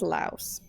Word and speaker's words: Laos: It is pronounced Laos.